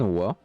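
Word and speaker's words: は: Tanto-su-san wa Gakusei ja Alimasen ou Dewa Alimasen. Donc le ha se prononce aussi wa.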